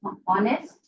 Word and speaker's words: honest: So give me the options, whether it is honest. In honest, H is silent, isn't it?